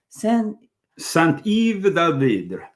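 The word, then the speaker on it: Saint-Yves d'Alveydre: Saint-Yves d'Alvidre.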